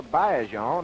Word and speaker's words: Baillargeon: We know Adrien Baillargeon, or Baillargeon, as he tells me the correct pronunciation is.